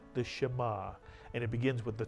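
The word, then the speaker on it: שמע: is only one syllable how would you pronounce this one syllable word shema is correct not ma but shema and what does shema mean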